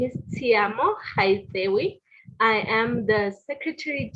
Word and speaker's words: Tshiamo: So far that some people have even went as far as saying tsunami instead of Tshiamo.